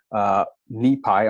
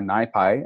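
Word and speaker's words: NiPy: And my group uses a lot of tools from the neuroimaging in Python, NIPI or NIPI, as different people may pronounce it, community.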